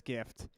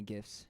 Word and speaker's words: GIF: If you added every Christmas gift that somebody would give you during the 12 days of Christmas, I won't time you out.